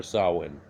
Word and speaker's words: Samhain: the ancient observance of Samhain or Sawin Samhain pronounced zahlen in traditional Celtic festival